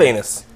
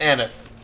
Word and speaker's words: anise: I love anus. It's pronounced anise.